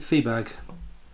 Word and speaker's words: Fiebag: Johannes Fiebag, Dr. Fiebag, Fiebag, Feibag. I would pronounce it Feebag.